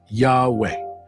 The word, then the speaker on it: Yahweh: the name of God which is not intended to be spoken and is pronounced Yahweh.